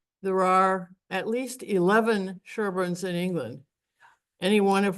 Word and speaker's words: Sherborn: Sherborn is spelled differently, but pronounced the same way as it's typically pronounced by you all, not Sherborn, like we would say from our Minnesota. But you guys call it Sherborn a lot of times, Sherborn.